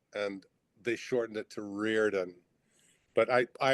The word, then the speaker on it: Riordan: Reirden. Cuz because I'm because it's it's one of those names where it's spelled a certain way. It's pronounced a totally different way and I'm like h I know.